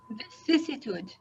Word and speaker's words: vicissitude: Okay, it's just the way you write it. Vicissitude. Vicissitude. Okay. Did I say it right? Vicissitude?